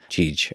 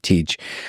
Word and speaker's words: Tej: Tej. Okay, Tej. It's TJ would be his name, but we call him Tej.